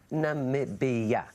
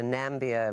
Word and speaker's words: Namibia: you share with the world how exactly you pronounce Namibia Namibia now I won't say this was big news